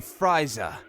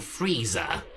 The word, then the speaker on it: Frieza: So, you must be Friza. Actually, it's Lord Frieza. Really? Then why is there an i in it? There isn't.